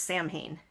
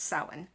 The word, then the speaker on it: Samhain: I know most people are used to seeing it Samsain, and they think it's pronounced Samhain, but it's Samhain.